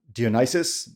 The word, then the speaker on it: Dionysius: Today I've got if I pronounce it right, Dionysius.